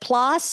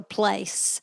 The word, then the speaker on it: Place: Is it plus or place? Place.